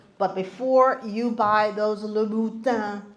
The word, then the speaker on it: Louboutin: before you buy those Louboutin shoes, and that is the correct pronunciation, they don't even know how to pronounce it.